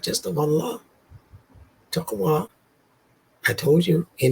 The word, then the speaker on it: Allah: I think they had a god called Allah with an elongated second syllable and they saw him